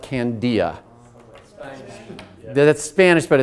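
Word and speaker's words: candelilla: It's spelled C-A-N-D-I-L-L-A, and you call it candia.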